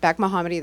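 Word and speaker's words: Bekemohammadi: my name is Beck mohammedi the second e is silent kind of tricky I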